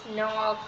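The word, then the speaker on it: knock: যদি এন হয় তাহলে জি এবং কে এর উচ্চারণ হয় না যেমন নলেজ নক এরপর হচ্ছে নল এক্সেট্রা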